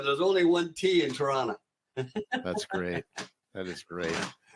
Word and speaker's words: Toronto: is see there's no there's only one tea in Toronto our shirt all different